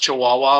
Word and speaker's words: Chihuahua: in Mexico is this literally pronounced Chihuahua like the dog yeah yeah okay the